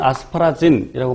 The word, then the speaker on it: 아스파라긴: 외우고 있으면 안 적어도 돼. 아스파라긴. 또는 아스파라진이라고 발음하기도 하죠.